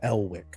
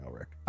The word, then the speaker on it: Elwick: Um, so the two that you saw were um the first officer, Von Delick, uh, Elwick. Uh, sorry, I keep saying Elrich.